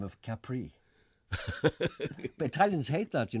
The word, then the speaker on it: Capri: changed the name of Capri. But Italians hate that, you know, because we always think the island of Capri is called Capri. But it's not Capri. It's Capri.